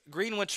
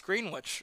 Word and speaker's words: Greenwich: New Englander and me knows it's East Greenwich East Greenwich excuse me where I'm from it's Greenwich the same exact spelling is a town near me pronounced the Greenwich three balls one strike